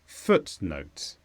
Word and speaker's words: footnote: is a noun with a stress on foot footnote this means supporting information at